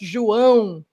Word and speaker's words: João: So this name is pronounced João. João Ribeiro. That's how you say this name.